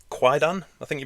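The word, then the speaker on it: Kwaidan: Yeah, because you just informed me that you do have a film called Quaidan, I think you pronounce it. Is it Quaidan? Quaidan.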